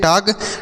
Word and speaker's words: talk: देखिए यहाँ पर जो यल लिखा गया ना बच्चों TALK, यहाँ पर यल है, यह साइलेंट होता है, इसे नहीं पढ़ा जाता है। तो इसे हम टॉक पढ़ेंगे।